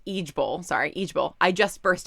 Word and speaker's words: IJBOL: Which stands for, or it's pronounced Ijbol.